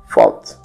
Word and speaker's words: thought: Para pronunciar o TH na palavra thought, você vai colocar a língua entre os dentes e soltar com o som de F, ficando thought.